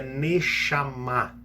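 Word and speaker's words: נשמה: O fôlego de vida, que está ali no hebraico, é uma palavra que se pronuncia Neshama em hebraico.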